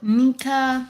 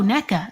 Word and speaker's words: Neca: mind um okay so nika i hope i'm saying your name right oh neca thank you neca thank you for